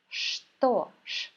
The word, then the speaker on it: что: Here you can see letter ch, but in this word, it is pronounced as sh. Что?